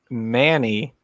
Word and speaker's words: Many: a city an hour south of me called Manny but it's spelled many ma NY but it's they pronounce